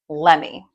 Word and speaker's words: let me: When Americans say this quickly, it becomes lemi. Let's practice saying it. The emphasis again is on the first part of the word. Lemie. Lemie. Not lemie.